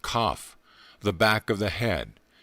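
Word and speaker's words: qoph: 100 has the letter q o pH pronounced cough the back of the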